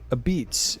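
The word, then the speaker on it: Apizza: We're gonna call it Pete's a Beats is how you pronounce this. This is Pete's a Pizza. It's a New Haven style pizza that we're doing in D.C. Pete's a Pizza. That's right. It's a fine pizza establishment. He's a pizza. But it's pronounced a Beats, in my understanding.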